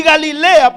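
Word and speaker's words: גליל: ciudad sobre cementerio y galilea porque era la región de galilea galilea significa en hebreo se pronuncia en hebreo y galil que significa círculo base en pocas palabras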